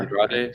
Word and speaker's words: Andrade: I think Felipe Andre, am I pronouncing it? Layla Starr. Andrade, the Layla Starr guy, yeah.